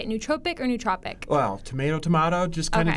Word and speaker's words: nootropic: How do you say it, nootropic or nootropic? Well, tomato, just kind of depends. I've heard both ways. I usually say nootropic.